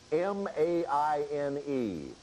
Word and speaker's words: Maine: It is also the only state with a 1-syllable name. Vermont. No, that's 2 syllables. I know Bill. that. Try M-A-I-N-E.